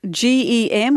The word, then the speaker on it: Gem: And you've got a new Amazon special, GEM or GEM. How do we pronounce that, Hugh?